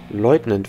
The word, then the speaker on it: Leutnant: Wie wird das ausgesprochen? Lieutenant oder Leutnant? Leutnant, wenn, ne?